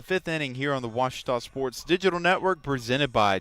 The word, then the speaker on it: Ouachita: University back in Texas everybody pronounces it Wichita but really it's Ouachita Ouachita Washington how would you pronounce it it's Washita Baptist University get it